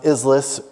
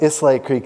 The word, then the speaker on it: Islais: Now, a lot of people think Islais, which is how it's spelled today, is pronounced Islis, Islayas, Islias.